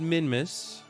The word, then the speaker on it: Minmus: at zero and now we're perfectly aligned with Min Mrs plane and we can begin pawning that maneuver okay uh it's pronounced minmis by the way does any way play KSP